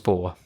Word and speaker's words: Bohr: Is that how you pronounce it? Yep. Named after Niels Bohr.